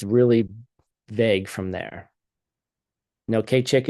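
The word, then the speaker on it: skad cig: vague from there no K chick is um spelled differently it's spelled SK a d all right K chick so anything that lasts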